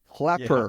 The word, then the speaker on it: Klepper: No, and pronunciation of the last name is Klepper? Klepper.